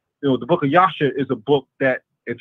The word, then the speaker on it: Jasher: in the book of Yasha. Well, it's spelled Jasher, but I pronounce it as Yasha because that's the correct way to say it.